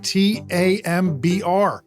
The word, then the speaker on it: timbre: It's with an I, but it's got an E. Timbre. It's French. Oh my god. It's spelled Timbre, but it sounds like Tambr.